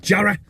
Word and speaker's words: Jarrow: Jarrow, it's spelt, but everyone up here in the northeast of England calls it Jarrow.